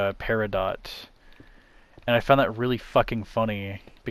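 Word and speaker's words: peridot: jewelry industry, they uh they pronounce it per parido instead of paradot.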